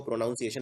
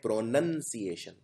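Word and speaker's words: pronunciation: हैं सिएशन, प्रोनाउंसिएशन, लेकिन इसको प्रोनाउंसिएशन नहीं बोलते हैं, इसको बोलते हैं प्रोनंसिएशन। इसका प्रोनाउन यानी सर्वनाम से कोई लेना देना नहीं है, प्रोनाउंसिएशन यानी उच्चारण।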